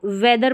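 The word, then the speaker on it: weather: को यहां पर है ये इसको वेदर पढ़ेंगे और इसको भी वेदर पढ़ेंगे दोनों का उच्चारण देखिए सेम है ये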